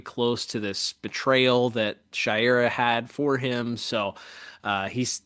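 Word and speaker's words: Shayera: Well, it's still pronounced Shaira, but it's spelled differently.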